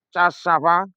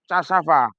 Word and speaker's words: cassava: Tulisannya cassava, apakah juga dibaca cassava? Enggak, ternyata beda. Cara bacanya adalah cassava, cassava. Ditulis cassava, dibaca cassava. Haha, mantap.